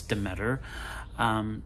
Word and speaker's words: Demeter: Last Voyage of the Demeter, and however you pronounce that. I think it's Demeter.